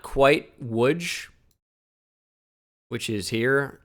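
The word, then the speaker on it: Łódź: which is not quite Woods which is here l-o-d-z pronounced woods but it is close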